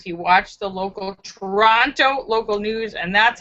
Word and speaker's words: Toronto: David Jones says, speaking of countries with often mispronounced names, Toronto is pronounced with a soft second T.